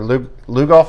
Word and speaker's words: Lugoff: Somerville had a 14-10 win over Lugoff Elgin. Am I pronouncing that right, Rob? That's correct.